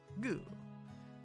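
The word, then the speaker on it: グ: the position shell yes goo you pronounce it says goo like in the word good yes or goo which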